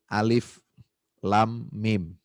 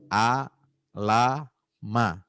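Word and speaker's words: ألف لام ميم: konsonantal atau huruf muqattaah kita baca Alif Lam Mim padahal hurufnya a la ma tapi dibaca seperti kita mengeja huruf hijaiah kita enggak bacanya alam kita enggak baca Alim ya kita enggak baca Alum ya kan ini tiga huruf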